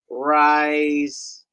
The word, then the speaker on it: Rize: You know, I got a call today from a foundation, Rise.